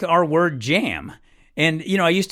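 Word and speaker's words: iam: often in Latin text you would see the word J aam jam it was actually pronounced yam and uh today they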